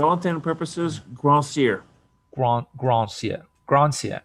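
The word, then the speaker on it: Grandsir: internal purposes grassier grant grant sia grant right here like the r is silent it's just don't try to roll it don't worry about it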